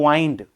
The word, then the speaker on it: wind: देखो एक शब्द होता है WIND, उसका प्रोनाउंसिएशन होता है वाइंड, उसका मतलब होता है लिपटना।